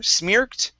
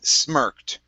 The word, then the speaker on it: smirked: uh first up okay this word is smirked instead of smear smirked it's smirked okay now a smirk